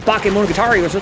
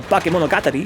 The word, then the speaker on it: Bakemonogatari: Anime Club, come by on Sunday to our Discord server and watch some Bakemonogatari, aka Bakemonogatari, if you want to pronounce it more correctly. I always say Bakemonogatari, that's just how I grew up.